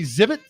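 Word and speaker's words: Xzibit: So would it be Zibit because you don't pronounce the X?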